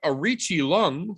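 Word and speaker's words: Aoriqileng: being the absolute sack of shit who fought Arichi Lung, who we learned that's how you say his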